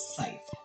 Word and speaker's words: scythe: I did actually look it up, and that is how you pronounce it, is scythe. So I was right with my initial assumption.